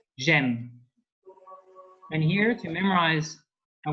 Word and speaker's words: j'aime: So instead of saying je, I, and then like M, French people tend to actually say j'aime because it's a quicker way of pronouncing.